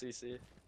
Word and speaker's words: Ceice: It's pronounced CC.